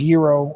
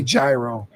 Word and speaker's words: gyro: and get a gyro instead I know it's pronounced Euro okay I know Euro but I say gyro because America exactly I think y'all just gave